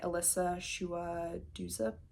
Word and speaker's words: Elisa Shua Dusapin: But one of them is Winter in Sokcho by Elisa Shua Dusapin, I believe is how you say her name.